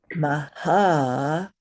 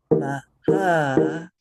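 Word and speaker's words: Mahāyāna: to say this is Mahayana. Mahayana. So you see that it has a very specific sound when the long and the short syllables are held properly.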